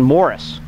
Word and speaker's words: Maurice: but um one son moris and it's pronounced Morris it's spelled Maurice but it's pronounced Morris uh was murdered about